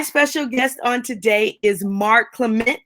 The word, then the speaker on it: Mark Clement: My special guest on today is Mark Clement. I want to make sure I say that right. Did I say it right, Mark? You did. You nailed it.